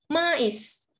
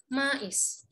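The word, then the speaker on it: maïs: is tapi cuma 12.00 bacanya jadi Meh Meh tapi yang sekarang ini karena titiknya dua bacanya terjadii maish artinya jamur jadi jangan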